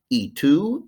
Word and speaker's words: y: from the first handout e2 and u a one letter word letter y pronounced e that's and in spanish so 30 is trenta